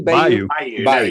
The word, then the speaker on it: bayou: It's a Bayou. How do you say it? Bayou. Bayu. You nailed it the first time.